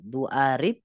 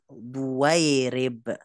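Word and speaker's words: ضويرب: Gimana bacanya? Jadi doa, nggak bisa, bahkan mustahil dibaca. Du'arib. Kalau du'arib jadi huruf hamzah dong dia. Du'arib gitu ya. Sedangkan itu alif bukan hamzah. Du'arib enggak. Ini jadi duwairib gitu.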